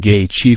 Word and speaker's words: Gaethje: Making his UFC debut, Gaethje, pronounced Gaethje for anyone unsure, would go to war with Michael Johnson in a sensational main event.